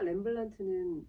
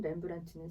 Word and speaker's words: 렘브란트: 화가 렘블란트는 100점에 가까운 자화상을 남겨서 미술사에서 가장 많은 자화상을 남긴 화가 중에 한 명으로 꼽히고 있는데 그의 자화상을 들여다보면 어떤 걸 읽을 수 있나요? 렘블란트라고 읽으죠. 렘블란트. 렘브란트.